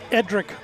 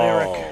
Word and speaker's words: Edric: Edric Wong at shortstop, not Eric. I have It's all right. You got to look, when you look at the roster, see that D in there? That D deserves pronunciation.